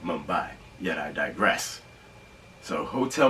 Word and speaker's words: Mumbai: I said the word it sounds like I pronounced it modified instead of Mumbai yet I digress so